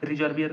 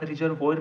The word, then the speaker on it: reservoir: Spelling ध्यान से देखना, RESERVOIR है, ठीक है। तो आप रिजर्वोयर भी पढ़ सकते हो, रिजर्वियर कुछ भी पढ़ रहे हो, ठीक है, रिजर्वोयर ही पढ़ते हो ऑफिशियली।